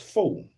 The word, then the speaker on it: faux: The French word faux meaning fake or imitation which I knew that one is pronounced fo.